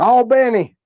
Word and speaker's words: Albany: All Benny.